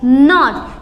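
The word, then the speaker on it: knot: अब मैंने बोला आपको KNO और T, इसको क्या पढ़ोगे आप? कनॉट? बिल्कुल भी नहीं, इसे आप पढ़ोगे नॉट, क्योंकि रूल्स क्या कहते हैं कि के क्या है यहाँ पर? साइलेंट, और उसकी आवाज़ हमें नहीं निकालनी है, तो आप क्या पढ़ोगे? इसे नॉट, और इस नॉट का मतलब होता है गांठ।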